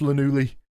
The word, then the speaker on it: Llanelli: Actually, it's, I think you'll find it's pronounced Llanelli.